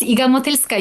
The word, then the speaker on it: Iga Motylska: And yes, Iga Motylska, you pronounced it perfectly.